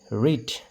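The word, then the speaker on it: read: হৈছে এটা চাব এইটো আৰ ই এ ডি ৰিড ৰ ই দ ৰিড ইয়াতে চাব এই এটো এইটো সাইলেন্ট হৈ আছে যেতিয়া দুটা ভাৱেল থাকে এটা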